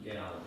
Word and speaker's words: Gao: cites my colleague Judge Robinson's case, and I believe it's pronounced Gao, G-A-O, as being on all fours with this situation.